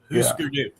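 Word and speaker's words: Hüsker Dü: That U with the 2 dots over it is pronounced oo. Husker Du.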